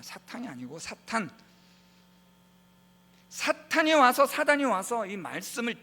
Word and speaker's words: 사탄: 사탄 발음 잘하셔야 돼요. 저 이거 그래서 자주면 저는 사단이라는 말을 쓰는데 어떤 분은 자꾸만 사탕이래요. 아 사탕이 아니고 사탄 사탄이 와서 사단이 와서이 말씀을 즉시 빼앗아 버리는 거예요.